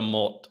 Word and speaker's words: mort: De la mort. You don't pronounce the T on the end.